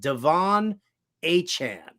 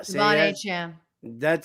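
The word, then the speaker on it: De'Von Achane: That's how he wants it pronounced. Devon Achane. Yeah. Devon Achane.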